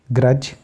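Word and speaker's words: grudge: तो जैसे बजट, एज, ग्रज, ब्रिज, क्योंकि जी के पहले आया डी तो डी को हमने साइलेंट कर दिया।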